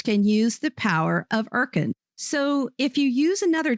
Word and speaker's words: Urkund: The Erkin system is highly accurate, cost-effective, and even better, doesn't sell licenses to students or others. Just teachers can use the power of Erkin.